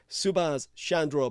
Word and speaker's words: Chandra: remember his name and that's how we pronounce Chandra boss think of it in both cases as Chandra Chandra so uh which by